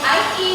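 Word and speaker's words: i.e.: Okay, what is the full form of IE, but we used to say in other words or we pronounce like that is.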